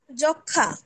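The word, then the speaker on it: যক্ষ্মা: যুক্ত ব্যঞ্জন বর্ণের সঙ্গে সংযুক্ত মফলার কোনো উচ্চারণ হয় না, তবে সামান্য অনুনাসিক হয়, যেমন যক্ষা।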